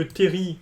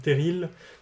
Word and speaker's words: terril: pas de grandes difficultés remarquer d'ailleurs que terry chez nous se prononcent terry alors que en franciliens se se prononcent stérile avec un l pour nous c'est pas forcément c'est un peu bizarre d'entendre terril mais les franciliens et les français en général prononce avec un elle pas nous ensuite le premier couplet